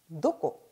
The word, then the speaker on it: どこ: 자, 그런데 뒤에 보통 조사가 100%는 아닙니다만 보통 조사가 따라 붙을 때는 발음이 나니의 형태로 자주 읽힌다는 것도 기억해 주시고요. 자, 누구는 나래, 언제는 이즈, 어디는 도코, 그리고 어째서, 왜는 도시대, 나제 방금 전에 문항에서 풀어본 것이고요.